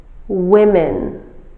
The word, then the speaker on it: women: Woman, women. Be careful about the pronunciation of the singular form, woman, and the plural form, women.